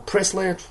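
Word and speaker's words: Priestley: the former Bri plyy or prisley whatever her name is I can't pronounce her name yeah it is prisley so but anyway but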